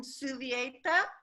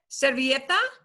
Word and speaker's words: servilleta: So, esta is in servieta. Is that how you say it? ¿Servilleta? Yes, Servilleta. Muy bien.